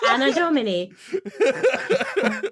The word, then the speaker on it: Anno Domini: Anno Domini. Think of Anno Dome. It's a dome. Any dome. No.